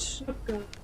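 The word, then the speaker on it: snoek: I want oh yeah we were talking about snook yes snook we were still talking about so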